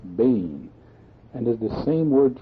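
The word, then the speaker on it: בֵּן: young animal the word translated cult is b-e-n pronounced Bane and is the same word translated by our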